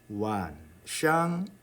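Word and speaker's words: 晚上: 그런데 선생님이 지금 발음하기를 완이 아니라 완 했습니다. 완. 이것은 이게 사성이 아니라 반삼성이라는 그런 이야기예요. 반삼성은 성조 표시를 삼성으로 합니다. 그럼 이렇게 하셔야죠. 이렇게. 그다음 완샹 할 때 샹은 어떤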